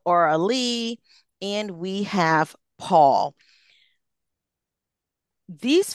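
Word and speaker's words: Auraleigh: So we have Sonia, Byron, Aralee, who for the listeners, that is spelled A-U-R-A-L-E-I-G-H. So Aralee, and we have Paul.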